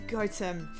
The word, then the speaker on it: Gotham: I know it's pronounced Gotham, but it doesn't stop me saying, "Ooh, I wonder if Batman's there" when I go past.